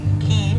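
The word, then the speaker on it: quay: if you are curious key is spelled q-u-a-y which which is a a word that means where I can tie my boat that's why there's a big letter Q There is also another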